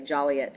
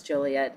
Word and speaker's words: Joliet: I am currently in Joliet, Illinois and uh, did I say it right cuz I know people in Joliet gets really mad when I say Jolliet. So I'm going to say Jolliet as well but I know it's Joliet. I just said Jolliet to